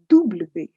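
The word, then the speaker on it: double vé: e to e v w is dubli yes you guess right it's like a double v so they say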